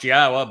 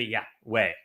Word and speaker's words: Yahweh: And they changed Yahweh's name, which is clearly pronounced Yahwa based upon Torah, based upon Haya, to Yahweh.